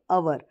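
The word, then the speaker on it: hour: कितना तो अवर क्योंकि इसको हम एच भले ही इसमें कंसोनेंट दिया है लेकिन यह हम पढ़ रहे हैं अवर तो यानी एच साइलेंट है इसलिए अ हिंदी का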